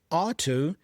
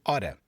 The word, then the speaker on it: ought to: Ought to is similar to should, but it's slightly more formal. Many times in pronunciation, people reduce it to oughta. So instead of ought to, you hear people saying oughta.